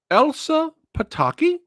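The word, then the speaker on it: Elsa Pataky: Now, Elsa Pitakei.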